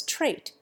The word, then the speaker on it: trait: We give nephew a clear F sound instead of the clouded English V sound, and we boldly nationalize trait and pronounce its final T, but we drop the second P from pumpkin and change the M to N.